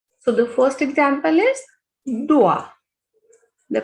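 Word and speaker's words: doigt: So the first example is dua. The pronunciation of O and I is ua. So this is duat.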